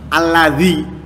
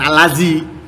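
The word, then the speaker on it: الذي: Alladzi, bukan allazi, ya.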